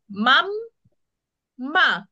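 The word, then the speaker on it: mamma: করব আমরা বাব বো বাব বো তারপর আরেকজন মাম মা কিভাবে আমরা উচ্চারণ করি মাম্মা আচ্ছা এই মাম্মাটা যেমন হচ্ছে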